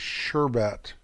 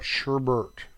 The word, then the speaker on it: sherbet: a director's correction here the pronunciation of that Frozen treat is sherbet not Sherbert so I had it backwards